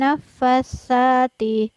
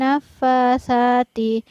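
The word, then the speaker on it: النفاثات: Jadi tidak benar apabila kita membaca wa min syarrin nafasati. Tapi yang benar adalah wa min syarrin nafasati, karena huruf sa-nya tidak bertasydid.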